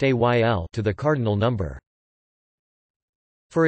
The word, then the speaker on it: éél: are formed by adding the ending al, pronounced ayl, to the cardinal number.